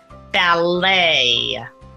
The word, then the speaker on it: ballet: there's a final t valet again final T when you're writing it but we don't pronounce that final t ballet debut and Chalet practice